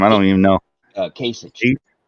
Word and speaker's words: Kasich: Kasich. Kasich.